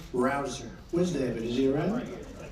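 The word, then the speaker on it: Rouzer: Petersen David Rosen hey you know how you pronounce it rabble rouser you go David rouser where's David is he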